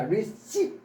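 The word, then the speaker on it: receipt: 그다음에 요것도 명사 receip 이때는 피가 발음이 안 됩니다. 그래서 rev이 아니라 receip 이렇게 생각하셔야 돼요.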